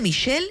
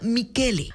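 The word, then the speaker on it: Michele: se pronuncia Así que este Michelle se pronuncia mikele Así que el nuevo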